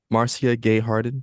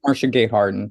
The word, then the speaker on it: Marcia Gay Harden: am going to highlight Marcia gayhearted did I say her name right I think it's Marcia Gay Harden Marcia Marcia Gay Harden